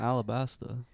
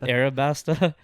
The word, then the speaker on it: Arabasta: Egyptian or middle eastern you're not saying it right it's not alabasta so like they're calling it Arab arabasta even though it's like alabasta